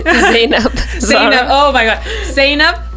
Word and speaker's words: Zainab: Am I pronouncing it correctly? Zainab.